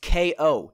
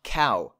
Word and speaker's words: KaoKraft: Yeah, my name, it's pronounced K-O, not cow. I'm not KaoKraft, I'm KaoKraft. K-O, think boxing, knockout.